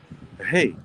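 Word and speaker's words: ה: of creation the letter the way that you pronounce hey is hey just like you say hey how you doing hey h-e-y so hey is the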